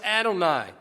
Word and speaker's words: Adonai: That's pronounced Adonai by the Jews.